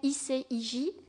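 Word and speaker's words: ICIJ: d'investigation américain qui s'appelle i say i j prononcé à la française et qui en fait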